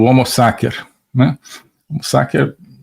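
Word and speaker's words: homo sacer: agamben que é o homo saker né homos saker uso aqui a pronúncia restaurada do latim né a pronúncia eh eclesiástica seria homo né mas o homo saker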